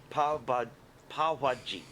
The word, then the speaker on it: pav bhaji: Oh, so along with all of the other delicious food that I've ordered pav bhaji, Yeah, pav bhaji. pav bhaji. Correct. What is Watching pav me bhaji? struggle with that Pav bhaji pronunciation.